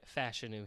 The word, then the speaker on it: Fashanu: But yeah, I'm going Fashanu here.